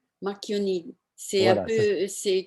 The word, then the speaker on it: Marchioni: Alors ça se prononce Marchionni. Marchionni.